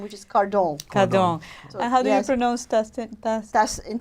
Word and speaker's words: Cardon: because that because my married name is so unpronounceable my career is my maiden name which is car dong dong nose Dustin that's in French Dustin wah